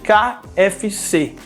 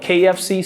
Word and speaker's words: KFC: the next one is kfc a lot of people here just translate those letters you want to say ka fec but actually we say that in english kfc and you know what kfc stands for kfc stands